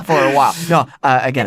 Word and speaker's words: Agena: Agena. Agena. Sorry, I will pronounce it wrong for a while. No, Agena.